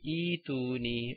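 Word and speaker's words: ائتوني: Okay, so anyways, we have a hamzatul wasl and the third letter has a dhamma. Okay, but we still read this hamza with a kasra, like ituni or ituni.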